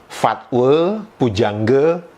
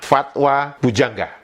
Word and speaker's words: Fatwa Pujangga: Dan kita tidak mendengarkan Aisyah mengucapkan kutri fatwe pujangge. Tidak. Aisyah menyebutkan kosakata itu kuterima. Fatwa bujangga. Jadi artinya apa? Pengucapan kosakata E untuk huruf A di akhir sebuah kosakata itu tidak berlaku ketika menyanyikan sebuah lagu. Itu kita berbicara tentang lagu